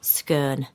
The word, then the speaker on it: scone: And maybe there's a scone on the table. And a scone. Pronounced scurn. Or scon if you're posh. Scone if you're Lancashire.